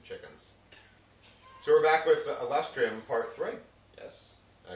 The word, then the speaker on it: Alustrium: the playground and chickens so we're back with lustrium part three yes I pronounced your uh band right you pronounced it